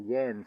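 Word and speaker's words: Jähns: but then there is a Jans catalogue, or Jens catalogue, I believe it's the way it's correctly pronounced, which takes it up to about 308.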